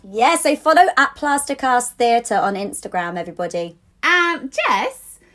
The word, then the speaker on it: THTR: So that's on Instagram, and then on Twitter it's at Plasticast, but theatre is spelled THTR, so it's Plasticast THTR.